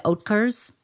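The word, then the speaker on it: Oetker: Von Finks and the how do you pronounce that last name the oatcars that's correct okay and and it's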